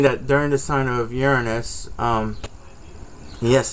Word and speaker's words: Uranus: during the sign of Uranus um yes it's pronounced urine is not your anus that when the discovery